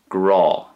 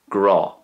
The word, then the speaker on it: grá: pronounced the same way, Grah. So it's like an awe sound, like in English if you're in awe of someone, it's kind of like that kind of a awe sound, Grah.